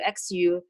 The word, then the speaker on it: Xu: name, like XIU, XEU, XU, then people don't know what that X to pronounce. Actually, it pronounced like sheep, like she, she. So XU is xu, XIU is xie.